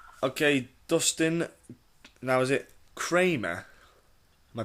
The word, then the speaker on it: Kramer: Okay, Dustin, now is it Kramer? Am I pronouncing that right? Yeah, it's Kramer.